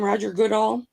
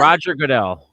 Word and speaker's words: Roger Goodell: Roger Goodall? So The football for commissioner. He's not yeah, the yeah, football commissioner now, but he was yeah, then. Roger Goodell.